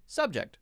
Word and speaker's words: subject: Two-syllable noun, stress the first syllable. Two-syllable verb, stress the second syllable. Object, right? Subject, subject.